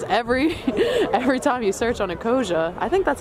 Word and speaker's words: Ecosia: Because every time you search on Ecosia, I think that's how you say it, right?